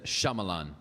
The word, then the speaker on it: Shyamalan: I probably butchered his last name. It's Shyamalan. Shyamalan.